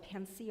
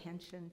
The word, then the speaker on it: pension: they have something called a pension or a pension people pronounce it different ways which um is a